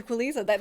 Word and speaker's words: Qualizza: Yes, Did I say it right? Dr. Qualizza. Yes, you did it.